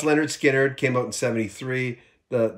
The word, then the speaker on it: Lynyrd Skynyrd: too I'm flirting with disaster y'all um but pronounced Leonard Skynyrd came out in 73 the the the sophomore